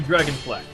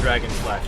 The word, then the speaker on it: Dragon Flash: Oh, he will do dragon flex or Ichimonji and then dragon flash.